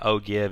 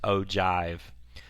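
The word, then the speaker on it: ogive: It says figure 1.4 is an ojive looks like o give. It's pronounced ojive.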